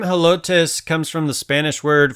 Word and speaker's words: Helotes: for corn cob and being a Spanish word you can drop the H from the pronunciation although there are a lot of folks who generally keep it in there they are proud